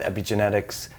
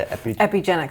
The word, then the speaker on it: Epigenix: You've done a lot of work with Epigenetics. Am I pronouncing that right? The Epigenix Foundation. Epigenix Foundation, yeah.